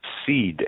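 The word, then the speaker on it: Cede: A subsidiary of the DTCC known as Seed and Company. And that is spelled C-E-D-E.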